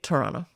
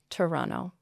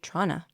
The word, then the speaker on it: Toronto: I would say Toronto. Toronto. Yeah. And if you're being really casual, you'll say Trana.